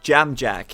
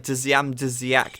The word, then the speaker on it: Dziak: And apparently Jamjack is the pronunciation. I don't know. Jamjack, it doesn't look like Jamjack to me. That definitely looks like Dziak to me. But hey, I know nothing about the Polish language, so Jamjack, there you go. I've been pronouncing it wrong for years.